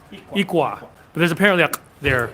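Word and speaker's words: iklwa: Ikwa.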